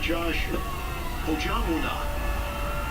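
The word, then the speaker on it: Josh Ojianwuna: The Bird did go out last night, practice pronunciation. Let's say it again. Josh Ojonwunu.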